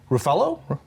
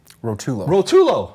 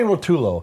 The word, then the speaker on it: Rotulo: And I'm going to introduce Tony Ruffalo? Rotulo. Oh, I said it wrong already. I'm sitting here saying it in my head, and then I say it wrong. Tony Rotulo from the Coast program.